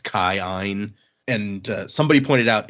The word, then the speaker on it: Kin: of the aon sounds which is why when we read like k i n as keen it's actually like pronounced kine.